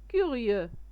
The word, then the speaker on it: curieux: Petit lapin أرنب صغير curieux curieux X ما كتنطقش curieux يعني فضولي.